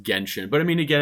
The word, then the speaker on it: Genshin: and the winner is jenshin impact oh i saw that clam and i was like no it was best mobile game too i was like um hello pronounced genshin but i mean again